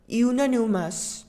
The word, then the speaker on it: unanimous: Example 3, the jury were unanimous in their verdict.